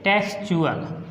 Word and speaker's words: textual: अब देखिए हमने कहा कि टी के बाद यदि UAL आए तो उस समय टी को हम च बोलेंगे या उच्चारण करेंगे।